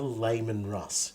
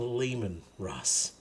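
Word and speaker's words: Leman Russ: I just pronounce things it is not a Layman Russ it is a lemon Russ it's lemon Russ it's lemon Russ it's it's French lemon lay you upset me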